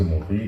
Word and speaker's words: Maurice: Pour ma personne, je suis Maurice et vous allez peut-être le donner pourquoi parfois c'est S chez Maurice, parfois pas. Bon, en effet, ça se prononce Maurice.